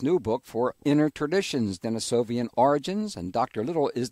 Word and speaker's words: Denisovan: Some people call those ancient people Denisovans. Others call them Denisovans. Andrew and I prefer Denisovan.